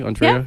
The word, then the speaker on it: Andrea: Am I pronounce that correctly? Andrea?